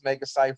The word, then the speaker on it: Megaite: Megaite rhymes with life.